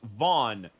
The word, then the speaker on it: Vaughn: Hey, just FYI, it's pronounced Vaughn. Yes, it is pronounced Vaughn, like the Mo Vaughn, the baseball player.